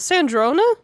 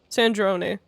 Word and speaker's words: Sandrone: Did we drop her off with Sandrona? Sandrone. Sandrone? The pronunciation of that name is inconsistent as fuck.